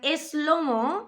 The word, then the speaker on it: SloMo: of the song slo-mo Spanish people put like a little e in front of that and we pronounce it is Lomo and eslomo literally in Spanish would